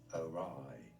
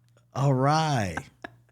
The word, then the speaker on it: awry: Awry. Stress on that second syllable. Awry.